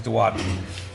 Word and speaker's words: duodenum: intestine here, which is called the duodenum. Okay, or duodenum. Sometimes you'll hear it pronounced. The correct pronunciation is duodenum.